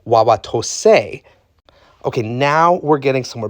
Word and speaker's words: Wauwatosa: Well, historically, when you have this A in an Ojiway or similar language word, you actually say the word a in it. So, you would probably historically have pronounced this as wawa to.